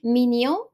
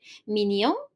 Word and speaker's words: mignon: Mignon, which is cute. So the G, we don't pronounce it. Mignon.